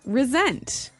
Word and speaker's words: resent: But you pronounce it like a Z.